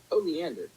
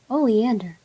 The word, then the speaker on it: Oleander: So next I really need to learn the pronunciation for this. Hold on, ready? Oleander. Oleander.